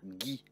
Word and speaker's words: Guy: Dans ce cas, il faut intercaler un U entre le G et le E, le I ou le Y. Voici quelques exemples. Une bague, une guêpe, peu importe que le E porte un accent. Une guitare ou encore le prénom Guy.